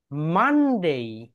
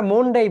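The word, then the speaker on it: Monday: দেন মানডে। মানডে। এটাকে আমরা মনডে বলি। ওকে, এটাকে আমরা বলবো মানডে, মানডে।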